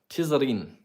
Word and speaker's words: Tizarine: Tizarine is how the locals would pronounce it.